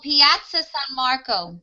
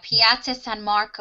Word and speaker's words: Piazza San Marco: Oh, Piazza San Marco.